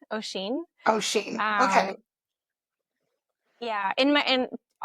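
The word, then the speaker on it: Oisín: It's O'Sheen. O'Sheen. Ocean.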